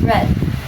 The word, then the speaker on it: read: The past tense of read is still spelled R E A D where it's pronounced red.